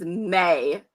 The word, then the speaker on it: me: The line is "It's gonna be me" from the song, but the way Justin Timberlake pronounces it is May.